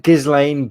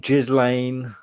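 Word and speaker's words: Ghislaine: back just like yeah gizzling i'd pronounce that because it's a g if it was a j then i'd put it jizz lane so yeah i'm so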